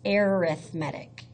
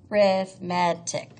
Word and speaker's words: arithmetic: incorrectly but it's an adjective so it is pronounced arithmetic arithmetic so arithmetic sequence so I don't know if